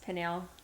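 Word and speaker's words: Pinal: she feels like you pronounce Pinell County.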